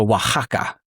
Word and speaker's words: Oaxaca: But like, so Oaxaca, right? Oh, yeah, with an yeah. X. So modernly, most of the times you pronounce the X like a H.